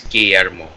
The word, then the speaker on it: Guillermo: Yeah, because there's two L's, it's Guillermo. Guillermo.